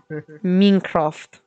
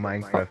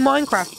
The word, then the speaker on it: Minecraft: for YouTube apparently Mincraft minkroft is that how you is that how you say it Germany no we just say it like uh English dude from Minecraft but we have a German